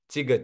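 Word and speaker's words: གཅིག: ये मैंने मतलब सिर्फ दिखाने के लिए लिखा है इंग्लिश में कि ये प्रीस्क्रिप्ट है, इसका उच्चारण सिर्फ यहाँ से होगा, चिग चिग, है ना।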